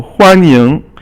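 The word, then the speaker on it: 欢迎: So huan is first tone, ying is second tone. So huan ying is to be welcomed.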